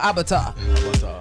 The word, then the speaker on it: Abatua: Like Avatar, but Abatua. Does it have anything to do with being an avatar? No. Nothing. Means King Lion. Okay. But I still kind of like the Avatar thing. Abatua.